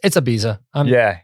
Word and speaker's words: Ibiza: It's Ibiza.